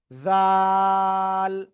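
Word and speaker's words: ذال: ছাড়া ছিল দাল আর এ অক্ষরটা হবে জাল এইযে জিব্বার আগে উপরে দুই দাতের আগায় লাগান তিন আলিফ টান হবে এটা কোরআনের ভিতরে আপনি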